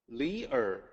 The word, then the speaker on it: Li: l i instead of le e e l e it's pronounced the same it's the same character it's a very common